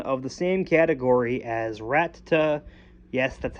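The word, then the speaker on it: Rattata: is a pokemon of the same category as rata yes that's how you pronounce it there is an extra t after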